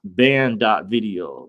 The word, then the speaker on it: Banned.video: But the first one is ban.video. That's spelled BANNED.video.